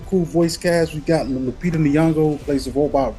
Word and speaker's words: Lupita: But Lapina, how do you pronounce her name? Oh, Lupita.